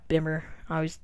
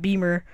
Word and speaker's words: Bimmer: Not Bimmer. Because that's the way it's spelled. Beamer.